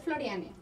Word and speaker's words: Florianne: Sí, pero es Floriane. Floriane. Floriane. Sí. Y así se pronuncia como tal, Floriane.